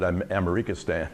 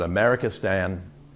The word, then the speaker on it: Amerikistan: You can pronounce it Amerikistan if you want, but Amerikistan: Conquest from Within.